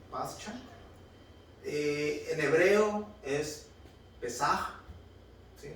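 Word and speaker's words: פסח: En hebreo es Pesaj, ¿sí? Esa es la pronunciación en hebreo, Pesaj, pero no tiene una J al final, sino una H.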